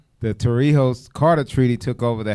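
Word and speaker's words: Torrijos: Did I pronounce that right? The Torio the Toriho Carter treaty took over the Hey Banu Verilla Treaty.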